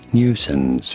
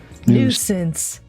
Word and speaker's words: nuisance: you do want to stress on the first syllable note the new sound here at the beginning nuisance in American English however it is usually said as nuisance nuisance okay I'm taking that